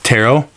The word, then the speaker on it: tarot: type it's tarot cards tarot my bad I was not familiar the T silent T I thought we agreed